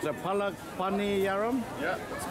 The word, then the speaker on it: Palak Paniyaram: So, how do you pronounce it? Palak, Paniyaram?